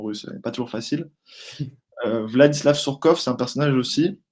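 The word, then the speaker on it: Владислав Сурков: Donc Vlad Vladislav Skov, pardon, parce que la prononciation russe est pas toujours facile. Vladislav Sourkov, c'est un personnage aussi à avoir dans la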